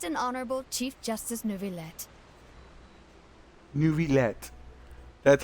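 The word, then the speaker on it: Neuvillette: the absolutely just and honorable chief justice nuvet nuet that's how you say his name net as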